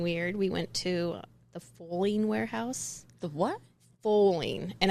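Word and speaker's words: Fowling: We went to the foaling warehouse. The what? Foaling. And I can't think of a worse possible sports combination. Foaling. But football and bowling combined. Oh, see, I would pronounce it fouling.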